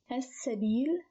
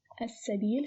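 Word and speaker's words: السبيل: As-sabil. As-sabil. Sabil starts with sin, which is a sun letter, and it becomes as-sabil when it is added to L.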